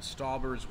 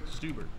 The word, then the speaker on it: Stauber: yeah newo what are your thoughts on Jack stober's work it's pronounced stuber stuber oops Jack stuber all those girls have been